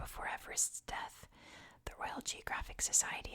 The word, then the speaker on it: Everest: has changed over time George's name is actually pronounced Eve rest what it's actually Mount